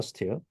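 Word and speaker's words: stele: 대표적인게 네타 스틸입니다 네스틸 이거는이라고이 스펠링이 돼 있지만 이건 스텔라고 읽는게 아니고 스틸입니다 네다 스틸 문이죠 비문 이렇게 비문이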